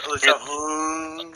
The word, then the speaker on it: Alicia: You said it wrong. It's Alicia.